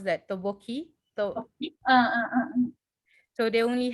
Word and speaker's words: tteokbokki: So mm, they only had like how do you pronounce that? Tteokbokki.